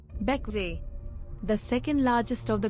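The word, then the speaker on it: Bequia: beckway the second largest of the grenadines charming beckway pronounced beckway is a popular yachting destination with a rich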